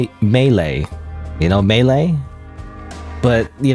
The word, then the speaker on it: melee: it cuz I pronounced I used to pronounce it as uh Mle. So not even Mle, not even Melee. Melee is correct one. Mle is the kind of like the common misprononunciation, but I always said it.